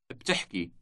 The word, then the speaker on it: بتحكي: بتحكي. بتحكي. The word has two consecutive consonants at the beginning, B and T.